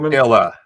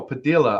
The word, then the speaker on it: Padilla: Absolutely phenomenal Padilla. woman. Like Tortilla, Padilla. I know, Padilla. I got it now.